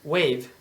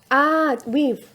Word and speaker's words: weave: the world and to wave this, how do you say that? ¿Cómo? Like tejer? Weave. Weave. No wave. Weave. Weave.